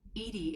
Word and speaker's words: EDI: why are you named edie edie is the phonetic pronunciation of edi that is an acronym